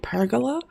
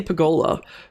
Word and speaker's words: pergola: Is that how Americans say it? Pergola? Not necessarily we say pergola, but or at least I say pergola, maybe I pronounce it wrong, but I've heard on shows recently, pergola, and it's fun to say, but it's odd.